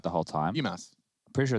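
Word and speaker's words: Bymas: BMAS. I'm pretty sure it's BMAS, yeah. Like, okay, it's like Christmas, but instead of Chris, it's just B.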